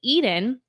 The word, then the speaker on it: Iden: it's going to be Eden but with an I pronounced like the Garden of Eden but spelled like identity i d en and